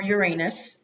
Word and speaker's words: Uranus: And Team Uranus, or Uranus, if you want to pronounce it that way.